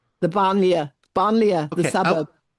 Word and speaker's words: banlieue: how to pronounce I'm going to botch the pronunciation. I was wondering if you could talk about the I think they're called the banlieues. The banlieue, banlieue, the suburb.